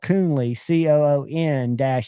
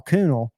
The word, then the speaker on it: Coonley: do for you, Shane, when I had to spell out Kyle Coonley, COON-LEE, because you kept calling him Kyle Coonel.